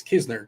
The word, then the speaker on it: Knizner: By the way, the N is silent. It's Kisner, just a heads up.